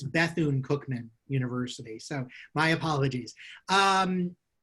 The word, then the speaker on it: Bethune-Cookman: I mispronounced. It's Bethune-Cookman University.